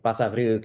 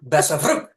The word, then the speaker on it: Basavriuk: Basavriuk. It was a quick. It was a quick Basavriuk, and you rolled the R a little bit, I didn't did.